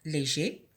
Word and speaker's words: léger: Légère, léger, léger. Donc ici, le R ne se prononce pas au masculin, mais il se prononce au féminin.